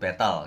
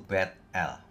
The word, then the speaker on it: Bethel: Battle batl rumah Allah biasanya orang sebut Battle gitu ya bacanya Battle Sebenarnya ya itulah pintu gerbang surga atau portal surga yang menamai tempat itu Bethel lalu bernasar lah Yakub